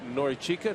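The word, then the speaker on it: Norichika: the first question was is it Nori chica he goes yes said Oh I thought it was nka he goes yes either way right but it's he says through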